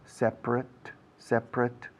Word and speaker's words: separate: You should put a separate, separate escrito, separate, como dos sílabas, separate, pero decimos en dos sílabas, separate.